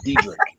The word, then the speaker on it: Dedrique: So I don't see, because your name is like Dedrique. Yeah, that's how it's spelled, but it's actually Dedrique.